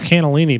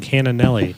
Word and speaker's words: cannellini: cannellini beans cannonelli beans for How do you 15 say it? years. I think it's cannellini, but I've been saying cannonelli.